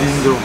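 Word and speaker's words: dhindo: Dindo. Yeah, dindo. Dindo. The right pronunciation is dindo.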